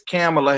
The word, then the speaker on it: Kamala: kamala harris or kamala harris and um she pronounces it as camila harris that's how she says it but i